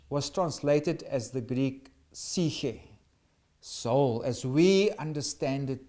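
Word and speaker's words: ψυχή: of a soul, or as you could pronounce it in Greek, psyche. Some will say suche, some will say psyche. Depends on how you want to pronounce it.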